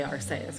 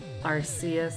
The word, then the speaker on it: Arceus: the record um and i used to say arseis because that just seems natural to me that is hi night